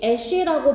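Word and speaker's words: Esch: 자, of 애쉬라고 발음하면 돼.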